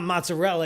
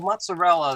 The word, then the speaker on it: mozzarella: Now I'm going to do my icy because it's not mozzarella because you can't say that. Well, mozzarella that's the wrong way to pronounce it. Italians we call it mozzarella, right?